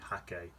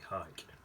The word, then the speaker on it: Hake: And some people say hake, some people say hike. I don't know. I think in China they say hake. But round here it's a hike, I think.